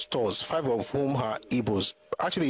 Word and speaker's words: Igbo: the pronunciation the way they pronounce it traditionally in their own language is ebo and the best way